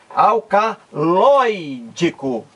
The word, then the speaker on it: alcaloídico: e o acento dele o acento tônico a a sílaba mais forte recai aqui na antepenúltima sílaba alcaloídico lói é a sílaba